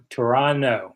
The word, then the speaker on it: Toronto: the Greek guy wins it's Toronto Toronto yeah with no t uh what do I